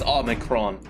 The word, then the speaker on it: Omicron: I've been saying it wrong for 10 years. I just looked it up. It is Omicron.